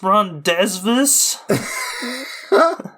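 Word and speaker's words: rendezvous: has arranged a REV with Jason they it's pronounced Ron desvas so yeah she finds out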